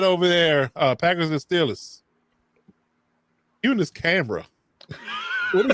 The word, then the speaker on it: Steelers: Baby, it's the Stillers. You need to know how to pronounce the name in Western Pennsylvania.